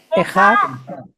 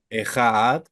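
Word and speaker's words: אחד: Ejad, Ejad.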